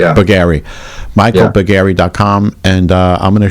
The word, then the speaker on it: Bougari: Bugger, do you pronounce it buggery or bugary or buggary? Yeah, buggary.